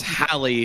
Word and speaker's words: Halley: It is Halley. It is Halley, right? Yeah. Yes, as in Halle Berry.